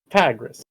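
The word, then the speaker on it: Pagrus: back a little bit it's a type of fish so oh my god that's my bit yeah not anymore we all fell for it hook line and sinker yeah it is it is a type of fish though so if you you can pronounce it that way pagras because that sounds like a fish anyway so you guys are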